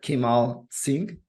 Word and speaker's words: Kimal Singh: His name is Kimal Singh, or Kimal Singh. That's the right way to pronounce it.